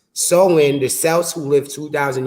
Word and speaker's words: Samhain: because Halloween's origins date back to the Celtic festivals of the Samians, pronounced Samhain, the Celts who lived 2,000 years ago, Mm.